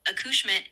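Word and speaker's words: accouchement: Of course, aushmitt is a French word that refers to child birth or the act of giving birth.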